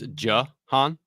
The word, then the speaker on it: Jahan: Yeah, it's Jahan.